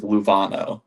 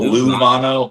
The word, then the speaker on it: Luevano: My last name is Luvano. So Lano or Lovano, either or. It's not really correct pronunciation saying.